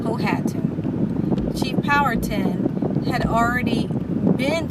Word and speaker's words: Powhatan: Chief Powhatan, his name is pronounced Powhatan, not Powhatan.